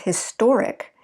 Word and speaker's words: historic: be an adjective historic so we shift our stress from the first syllable to the second syllable once we add the ic notice that we still have the same amount of syllables history historic it didn't change that but it did change where we shifted our stress history historic okay major first stress